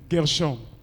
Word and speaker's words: Gershom: Lobi tozala ki alongona mosali na nzambe docteur Gershom na prononcer comme bien. Gershom.